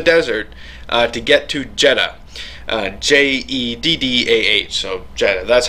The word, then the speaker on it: Jeddah: J-E-D-D-A-H, so Jeddah, that's how I'm going to pronounce it.